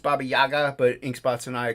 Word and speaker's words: Baba Yaga: one laughing at frog G um she's the Baba Gaga no I know it's pronounced Baba Yaga but Ink Spots and I call her the